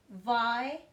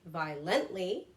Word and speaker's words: violently: Violently. Again, it's on the first syllable. I don't say peacefully, okay? I say peacefully. I don't say violently. I say violently, all right?